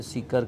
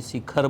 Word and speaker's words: सीकर: बहुत सारे लोग तो सीकर को ढंग से प्रोनाउंस ही नहीं कर पा रहे थे, सीकर कहीं शिखर बोल रहे थे, कोई शिकार बोल रहे थे, इस तरह से।